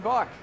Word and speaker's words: Buck: It rhymes with luck. John Buck.